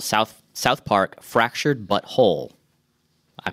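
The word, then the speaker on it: The Fractured But Whole: The new South Park RPG from Ubisoft and South Park Studios as well worked together on this game called South Park Fractured But Whole. I pronounced that correctly.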